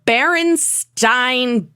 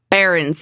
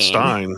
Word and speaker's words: Berenstain: The Berenstain Bears has always been spelled Berenstain instead of Berenstain. That's how I always heard it. Berenstain. I always thought Stein. Yeah. I always heard Berenstain Bears, Stein. but it was spelled like Stein. It's not. It has an A in it, and that one really stumped me.